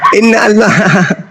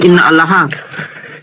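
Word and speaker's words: إن الله: Innallah inallah Imran 45 ketahuan bukan inallahatan kafir laknatullah kah di situ innallah innallahi innallah bukan inna allaha parallahah itu cara bacanya begit gitu.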